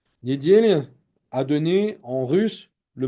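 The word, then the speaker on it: недѣля: VOC la résurrection mais en slavon dimanche se prononce en réalité se dit Nedel Nedel a donné en russe le mot nel la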